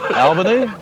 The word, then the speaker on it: Albany: Let me explain to you about the uh local pronunciation of this place. Um Albany instead of Alberty.